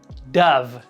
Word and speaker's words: Dove: A pronúncia original do nome dessa marca em inglês é Dove.